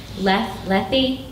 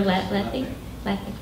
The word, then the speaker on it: Lethe: I always freeze about how to pronounce this word. I think Dean's actually helped me out with it before. Lethe, the river Lethe.